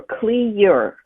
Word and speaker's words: Cleure: with that name is it's the words clean, pure put together. So CLE stands for clean, P-U, and then URE stands for pure. So clean, pure, Cleure is the way you pronounce it.